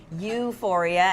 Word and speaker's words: Ewephoria: Yeah, it's a sheep's milk cheese, so it's spelled E-W-E, Euphoria, as in homage to the lady sheep who gave the milk to make it.